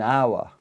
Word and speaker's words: hour: because it's a consonant it's got a h but this H is silent we don't pronounce it I won't say one